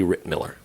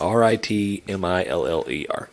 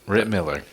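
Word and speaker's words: Ritmiller: rick miller greenwald molly rick miller that wasn't even close r-i-t-m-i-l-l-e-r rit miller rit miller okay so there is a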